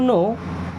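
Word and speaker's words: know: सो I want to नो। I means होता है मैं। वांट मींस चाहता हूं। आई वांट मैं चाहता हूं टू नो। अब इस नो वर्ड में दोस्तों के और डब्ल्यू साइलेंट होते हैं।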